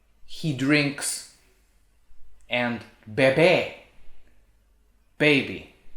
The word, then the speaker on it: bebé: i found there is beb he drinks and babe right so like the baby drinks from the